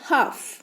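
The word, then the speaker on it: half: वक्त एल लिखा जाएगा एच ए एल एफ लेकिन बोलते वक्त एल पढ़ा नहीं जाएगा यह बन जाएगा हाफ राइट इसे आधे में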